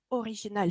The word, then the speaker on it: original: Ça se prononce toujours original. C'était vraiment original, le sujet original, l'histoire originale, et peu importe le genre.